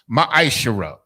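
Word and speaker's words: מעשר: verse 8 through 10 means 10th in hebrew and is pronounced maishirah 10 of every penny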